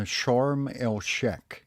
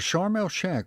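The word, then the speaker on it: Sharm El Sheikh: yeah yeah it was it was usually pronounced as Sheek but that's okay okay so is that where you hung out well charmal Shack was um a little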